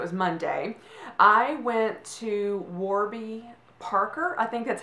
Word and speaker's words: Warby: money yes it was Monday I went to Warby Parker I think that's how you pronounce the first word it's w AR B